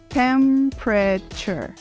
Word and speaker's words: temperature: A palavra seguinte significa temperatura, e ela se pronuncia de uma forma não muito intuitiva. Nós falamos temperature.